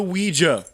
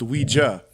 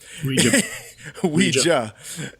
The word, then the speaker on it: Ouija: new story kind of the weija sorry it's pronounced Ouija Ouija is uh is really